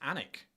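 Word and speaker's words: Alnwick: Uh but it's pronounced Anic.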